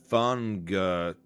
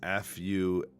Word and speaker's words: Aspergillus fumigatus: So I'm gonna spell it for you. It is Aspergillus Fungatus. It's Funigatus.